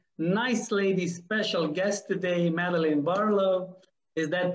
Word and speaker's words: Madeline Barlow: have a very nice lady special guest today madeline barlow is that pronounced good yes it is okay first tell